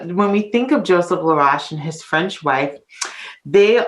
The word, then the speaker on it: Laroche: Joseph Philippe La Mercier LaRoche and I say LaRoche because I'm so used to mispronouncing his name oftentimes people think it's larouche but it sounds like Posh lavage uh when we think of Joseph LaRoche and his French wife they are a he